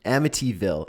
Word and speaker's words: Amityville: it I'm just going to double check the pronunciation again I swear to God I always get this word wrong Amity Amityville Amityville Amityville Amityville number eight Amityville Horror remake